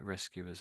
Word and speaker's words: rescuers: I think the emphasis at the beginning of the word. Let's see. There's more than one way of saying it possibly, of course. So, if you rescue rescuers or there's there's rescuers here.